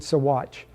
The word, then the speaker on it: Sawatch: They pronounce it Sawatch, despite the spelling.